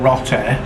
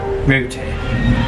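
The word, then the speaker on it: roti: pronounce some of it so it's not rotten like i was saying it's rooty that's right i'm having a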